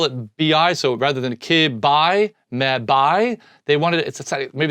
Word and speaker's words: kibi: BI, so rather than ki-bi, me-bi, they wanted it, maybe they sounded better to call it B. So it's me-bi, kibi, mebi, gibby, tebi, pebi, egsby, zebi, and yabi. That's how you pronounce them.